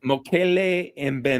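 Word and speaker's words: Mokele-mbembe: Mokele Mbembe.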